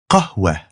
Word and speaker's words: qahwa: Whenever that happens, you'll pronounce it as a light H sound at the end of a word. So here's tufaha and here's qahwa.